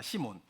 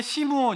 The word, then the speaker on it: 시몬: 시몬. 뒤에는 시므온 이렇게 되어 있는데 앞에 시몬은 헬라식 발음이고요. 뒤에 시므온은 히브리식 발음인 것입니다.